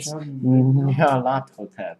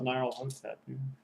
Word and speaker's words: Nyarlathotep: No, and it's Nyarlathotep, by the way. Yes. If you wish the pronunciation correctly, that's what Oh, I thought it it was- is. Nyarlathotep. I thought it was Nile Hotep.